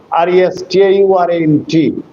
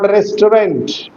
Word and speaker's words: restaurant: Just like restaurant, R-E-S-T-A-U-R-A-N-T, not restaurant, but restaurant.